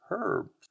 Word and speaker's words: herb: and for many years, they also dropped the H and called it herb. But then in the 18th and 19th centuries, the English went through and tried to standardize their pronunciation and spellings, and they brought back the H. If we're going to spell it with an H, then let's pronounce the H.